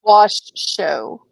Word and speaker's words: Washoe: so will theyed DLC says it's pronounced wash show show thank you so is what the Washo County Nevada commissioners are